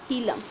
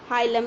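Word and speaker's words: hilum: हम क्या कहते हैं, हीलम। ठीक है, उस पॉइंट को हम क्या कहते हैं, हाइलम या हीलम, जो आपको प्रोनाउंसिएशन में ठीक लगे।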